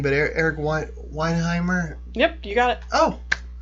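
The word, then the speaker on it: Weihenmayer: it's the No Barriers conference and I'm gonna mispronounce his last name, but Eric Weinheimer.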